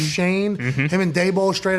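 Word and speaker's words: Schoen: over there Shane right Joe Shane spelled shown pronounced Shane him and day bowl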